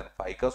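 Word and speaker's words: Ficus: फिकस बेंगलिसिस जिसको कहा जाता है इंग्लिश में, हिंदी में लिखते समय प्रोनाउंसिएशन फाइकस हो जाता है, इंग्लिश में फिकस पढ़ते हैं, वानस्पतिक नाम है, फाइकस प्रजाति है, पूरे मध्य प्रदेश में देखने के लिए मिलेगा।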